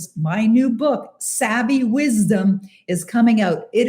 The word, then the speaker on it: Savvy: It's Savvy, Savvy. I know savvy, the word savvy actually is spelled with 2 V's, but it's a name. It's Savvy.